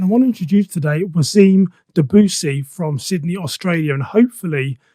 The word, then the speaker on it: Wassim Dabboussi: became podcast and i want to introduce today wasim debussy from sydney australia and hopefully um i've got your name correct i'm terrible with pronunciations you got my name really really well